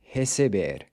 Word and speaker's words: recebe: Another ER verb that follows the same pattern as beber is receber, to receive. So you have recebo, pronounced with a closed E, then recebe and recebem are pronounced with an open E.